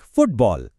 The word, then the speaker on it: football: For most of these words, the stress falls on the first part, the first syllable of the first word.